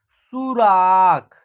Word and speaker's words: सुराख: ठीक है, स में बड़ी ऊ की मात्रा है तो सु, र में आ की मात्रा है रा, ख है, तो इसका उच्चारण होगा सुराख।